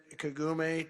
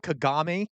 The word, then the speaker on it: Kagame: Hiori, I'd like to now invite President Kagum to Okay, well that Hey, he he pronounced it right the first time. He can't get it right the the second time. Kagame.